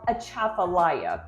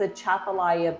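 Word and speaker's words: Atchafalaya: Texas area and people ask me how to pronounce this word and it's called a Chapala so the big long bridge that's going from Baton Rouge to New Orleans that's a Chapala Basin so that's how you pronounce the word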